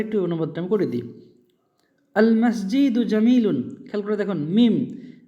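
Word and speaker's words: المسجد: তার মধ্যে দেখবেন মিম এমন একটা হরফ যার আগে আল আসলে লাম উচ্চারণ হবে। তো আল মসজিদু, মসজিদুন ছিল মূল শব্দ, আল যোগ হওয়ার জন্য সে একটা পেশ হয়ে গেছে।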